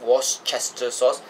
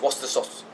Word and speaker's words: Worcestershire sauce: It's not pronounced Worcester sauce. It's Worcester sauce. The CHES is silent. Don't ask me why. This is how the Brits do it.